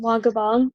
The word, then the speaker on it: Wangumbaug: that I go to which is pronounced Blanco bomb it's a Native American